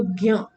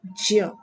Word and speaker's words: ज्ञ: इसका प्रोनाउंसिएशन आप लोग करते हो ज्ञ, ज्ञ नहीं ज्य।